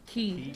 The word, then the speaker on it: Kay: How do you pronounce his name? Key. Oh, Key, I'm sorry.